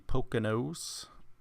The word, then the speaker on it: Poconos: I Poconos.